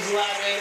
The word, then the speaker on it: Zlatan: You want to see Zlatan. Zlatan is the correct pronunciation, yes? Zlatan.